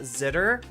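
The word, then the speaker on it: Xitter: x-i-t-t-e-r right you could you could pronounce that zitter Ah that's perfectly reasonable to say that that that's sitter that's pronounced zitter um I have a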